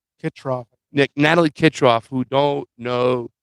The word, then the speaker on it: Kitroff: Kitroff.